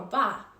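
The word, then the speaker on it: 八: important in Chinese culture the number eight or ba is a lucky number because it sounds like the word fa which means Prosperity the number six symbolizes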